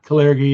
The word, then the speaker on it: Kalergi: and American, and this dream, how do you pronounce the guy's name? Caligari? Kalergi? Yeah. Kalergi, yeah.